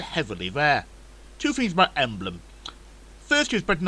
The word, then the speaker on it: Emblem: Of course, everywhere still been pronounced Emblem.